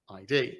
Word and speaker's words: id: normally pronounce that as ID. I've always called it ID software. What is it? Id, as an ego, id. That's a great today I learned. It's like, I've always called it ID software.